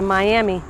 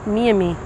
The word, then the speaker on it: Miami: along the mommy river you might know us as the miami but we pronounce it me and me one day when i